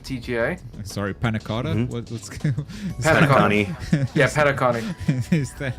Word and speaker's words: Penacony: What's Penacony. Yeah, Penacony. Is that a, That's how it's pronounced.